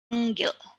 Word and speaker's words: panggil: The last example is panggil. The penultimate syllable panggil.